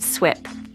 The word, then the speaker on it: SWPPP: stormwater pollution prevention plan, or an SWPPP, often pronounced SWIP.